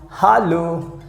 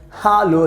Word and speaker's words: hallo: useful you know that h a double l o that means in german language we pronounce hallo hallo that means you can